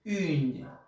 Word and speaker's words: une: Se escribe une, pero se dice une. Voy a poner mi boca en forma de besito, de silbido, y digo la I. Voy a pronunciar la I. Que suene también, que vibre la nariz.